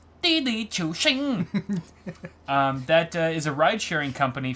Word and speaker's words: Didi Chuxing: But it's all been turned upside down now because there's this company called Didi Chuxing, which is not how you pronounce it at all. It's Didi Chuxing.